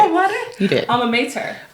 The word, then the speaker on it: alma mater: Alma mater? Yes, you did say it right. Alma mater?